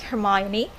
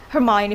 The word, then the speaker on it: Hermione: How could you study Harry Potter for your English pronunciation? That's really, really. I'm curious to know. Yeah, so I really like Hermione. Hermione from Harry Potter.